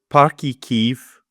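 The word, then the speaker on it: Páirc Uí Chaoimh: In terms of the game itself, so it's Parky Kiev we're playing at. Yeah, well done on the pronunciation.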